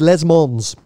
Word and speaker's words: Le Mans: how do you say Lamar and you don't pronounce the mo the S at the end it's hey let's go with les Mons I did hear a few Americans and bless